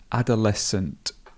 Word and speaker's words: adolescent: But notice here how we've got this schwa, so it becomes sunt, adolescent.